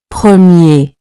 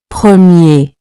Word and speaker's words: premier: On its own, you don't clearly pronounce the final R. Premier. Premier.